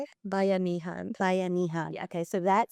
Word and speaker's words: Bayanihan: I think it's that spirit that Bahanian. Is that what is it? Right? So like, how you say it? Bayanihan.